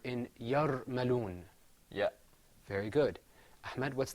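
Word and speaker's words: يرملون: That word is pronounced yarmaloon.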